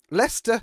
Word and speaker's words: Leicester: This is where the problem lies with British pronunciations. If I can't say it, how can you guys say it? Leicester City Football Club.